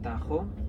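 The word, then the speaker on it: Tajo: river Tagus we spell it in english t-80us pronounced tegus in english patent spade is ta j openers Tahoe this river is important because it's the longest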